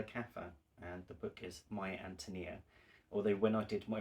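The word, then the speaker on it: My Ántonia: about this novel, and they corrected my pronunciation. So it's My Antonia, and I love this so much.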